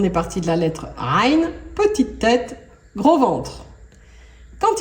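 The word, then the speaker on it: عين: On va revenir sur cette lettre, Ra, le Ain, son nom c'est Ain. Et pour la prononcer, il faut serrer la gorge.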